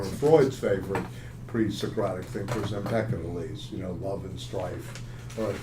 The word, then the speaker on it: Empedocles: up with one of Freud's favorite pre-Socratic thinkers, Empedocles. Love and strife are at the bottom of everything. Eros and aggression. Kind of interesting, Freud's relationship to the pre-Socratics. Very little's been written about this. There's some. Empedocles.